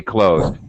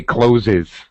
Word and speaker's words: clothes: Normally we say closed. It is very It's wrong. Close is normal. Like close the door. Same pronunciation. But it is not incorrect to say clothes.